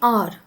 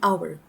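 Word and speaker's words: hour: We don't say R. In fact the correct pronunciation is supposed to be our.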